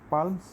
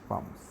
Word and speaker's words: palms: যেমন PALMS, পালমস স্বাভাবিকভাবে আসে, যেহেতু আমরা বাঙালি এভাবেই জানি, কিন্তু দেখো এখানে এলটা সাইলেন্ট হয়ে গেছে, পাম্পস.